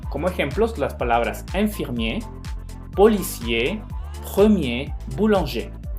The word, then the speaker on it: policier: Si se fijan, en ninguna de ellas yo pronuncié la R. Y generalmente también me las pronuncian. Entonces, por favor, tampoco me los vayan a pronunciar. Y infirmier, policier, premier, boulanger. No infirmière, policière, première y boulanger. Incluso si las pronuncian las R's, es como si estuvieran hablando en femenino. Y ahí estamos hablando en masculino.